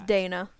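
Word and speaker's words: Daena: as the house of Dana it is quite possibly the most extensive speci so I pronounced it right it is Dana there are a lot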